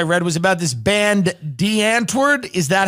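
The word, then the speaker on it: Die Antwoord: the stories I read was about this band, D'Antwoord. Is that how you pronounce it?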